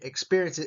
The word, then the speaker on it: experiences: emphasis Ambitions experiences experiences I hope you're starting to learn to listen for where the emphasis is in this word experiences it's in the peer right experiences achievements achievements achievements